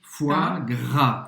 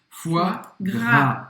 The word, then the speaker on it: foie gras: Você vai falar simplesmente o som do F e depois wa. Foie. E depois, gras, a dificuldade é justamente aqui o R. Foie gras. E não pronunciar o S no final.